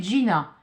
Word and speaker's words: Gina: Je sais pas si, moi, quand j'ai toujours entendu ce prénom, on disait, par chez moi, on disait Gina. Il n'y a pas de D. Ça s'écrit G-I-N-A.